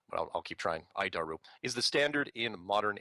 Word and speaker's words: ADIRU: as the air data initial reference unit we pronounce it it's horrible name but I'll keep trying idaru is the standard in modern avionics it's at